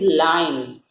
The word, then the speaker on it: lion: So you will not pronunciate it as loin. कोई भी इसको loin नहीं बोले, it is lion.